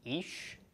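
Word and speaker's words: איש: So chiric followed by a yod makes long E sound, followed by the sh of the sheen. So ish is the pronunciation of this.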